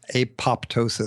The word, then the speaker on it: apoptosis: mechanism is Apatow sious apoptosis sometimes it's called it there's a pee in there that's sometimes pronounced sometimes silent and this is programmed